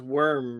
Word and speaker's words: wyrm: Well, it makes sense because it's Worm, right? WYRM is Worm.